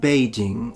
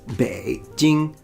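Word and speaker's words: 北京: Beijing. Beijing. It's easy once you know. Beijing. And now you know. It's not Beijing, it's Beijing. Beijing, third, first.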